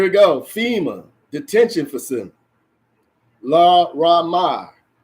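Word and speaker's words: Laramie: Lamara, here we go, FEMA detention facility. La Ramar, that's what it's pronounced.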